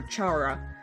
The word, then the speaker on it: Chara: human this human is commonly referred to as kara or chara but i'll be using the pronunciation kara since it resembles the word character this name originates from